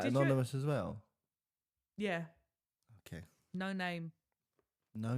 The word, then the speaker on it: Noname: No name. No name. Yeah, that's their name. Oh, It's actually pronounced Noname.